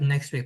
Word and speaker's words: next week: Next week, Andrew said next week. That's a very good example. Next week, next week we don't actually pronounce the T.